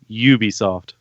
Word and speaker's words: Ubisoft: but no it that's you pronounce a you like a u its Ubisoft alright it doesn't matter